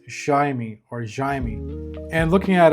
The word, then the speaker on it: Jayme: In Spanish his name would be pronounced Haimey or Haimey but um after doing some research